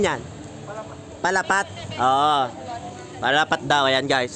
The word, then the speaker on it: Palapat: Sir, ano ba pronunciation yan? Palapat.